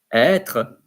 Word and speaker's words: hêtre: Beech tree, hêtre, and you don't notice, you don't pronounce the H in French, hêtre in French.